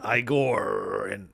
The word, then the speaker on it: Igorrr: Igor, and I say it like that because it's spelled Igorrr.